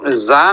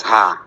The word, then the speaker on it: زا: এটার উচ্চারণ জা না ঝা জা জা ঝা জা